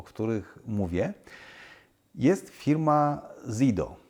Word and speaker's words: Zido: których mówię jest firma Zido. No tu oczywiście jest problem wymowy, bo niektórzy mówią zaidu, zidu. Myśmy zdecydowali się na polską wymowę, a więc zido.